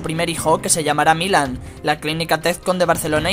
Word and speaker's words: Milan: Según el mensaje, el nombre de Milan significa querido, lleno de gracia y amoroso en eslavo, en romano antiguo, entusiasta y laborioso, y en sánscrito, unificación, y debe ir acentuado en la primera sílaba, como pasó con su